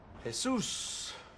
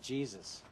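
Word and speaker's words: Jesús: a menu yes ma'am hay-soos most people pronounce it Jesus nice name religious doesn't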